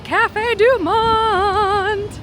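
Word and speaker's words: Café du Monde: We're going to head across the way to Cafe Deont. You have to say it like that.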